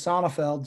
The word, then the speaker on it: Sonefeld: when you have a long german last name that's often mispronounced you come up with all these mine is sonifeld so you get called